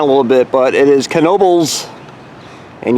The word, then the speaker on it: Knoebels: bit but it is Knoebels and yes you do say with the k hey everybody Tom ever